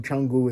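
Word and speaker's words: Canggu: Kungu Chungu is how it's pronounced.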